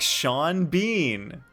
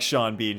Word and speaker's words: Sean Bean: later oh yeah because the way it's spelled it looks like sean bean should rhyme but it doesn't it's not even close nice yo